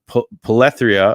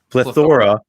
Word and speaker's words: plethora: like that and uh polytheria i don't know how to pronounce this one rob plethora plethora thank you professor rob yeah puzzles that